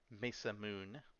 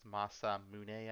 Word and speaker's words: Masamune: of playing video games I always pronounce that Mesa Moon but it's probably more correctly pronounced Masamune I think I like my pronunciation